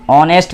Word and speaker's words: honest: Honest man. We have h in front and here h is silent.